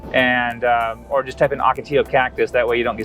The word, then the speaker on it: Ocotillo: it the other one the Ocotillo it's actually pronounced Ocotillo and Ocotillo which we drove through the Ocotillo